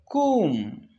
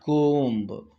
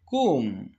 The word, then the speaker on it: comb: Next word, comb, not comb, comb. The last letter is silent.